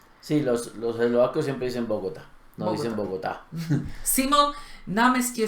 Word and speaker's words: Bogotá: Que Bogotá es Bogotá, no Bogotá. ¿Sí? Sí, los eslovacos siempre dicen Bogotá, no dicen Bogotá.